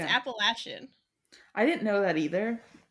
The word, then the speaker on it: Appalachian: years ago that uh we were being taught Appalachian Mountains for years like Appalachian it's Apple Asen I didn't know that